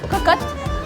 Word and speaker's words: cocotte: Cocotte.